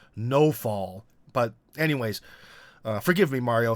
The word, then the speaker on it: Nawfal: It's spelled like Nawfal, but the Russians say it weird. They say it more like no-fall.